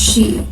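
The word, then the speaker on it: 四: number four is pronounced she the same as the word for death and is considered very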